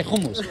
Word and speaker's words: hummus: normal English and then you say homos because that's the right way to say it we're gonna make a